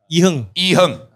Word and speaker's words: Iherng: Iherng. I always read it as iOS. Correct. Iherng. He came on our podcast before, already corrected.